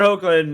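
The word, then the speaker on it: Hoechlin: have in the TV shows uh Tyler uh hulin I did learn how to say his last name um so Tyler Hulan has played Superman in a couple of different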